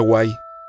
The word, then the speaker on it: huay: Se pronuncia huay, viene del maya, y literalmente significa brujo,